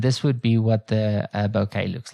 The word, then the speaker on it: bokeh: pronounced as okay it's it's pronounced as bouquet you know like like a bouquet of flowers that's where that's the